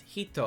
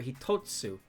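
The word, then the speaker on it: 一: The number for one can be pronounced hito or hitotsu. When you count one, two, three as hi, fu, mi, one is hi.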